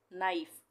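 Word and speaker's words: knife: उसी तरह से नाइफ, यहाँ पे के का उच्चारण नहीं होगा, नाइफ।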